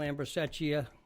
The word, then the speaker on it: Ambrosecchia: Can't pronounce the name. I'm not going to try it. My name is Ambrosecchia, known as Ambro.